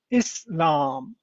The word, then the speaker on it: Islam: Take these words for example insan in Islam. They all follow a distinct sound pattern starting with a short e sound and stretching into a long a sound in the middle.